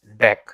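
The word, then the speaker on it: Deque: a array deck so this DQ means deck remember that we pronounce this dech so array deck and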